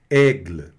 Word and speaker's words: aigle: Observem que esse E no final ele é meio chatinho, porque ele finge que aparece, mas não aparece. Às vezes ele aparece um pouquinho, não aparece. De regra, ele não deve aparecer, tá certo? A não ser que ele esteja acentuado. Mas ele puxa sempre uma consoante, que às vezes a consoante também soa um Ezinho no final. Mas nenhum destaque para ele, tá? Aigle, tá bom?